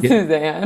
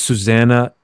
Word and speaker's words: Suzanna: holy sh just saying my name's not Suzanne it's not Suzanne it's Susanna and then you you explain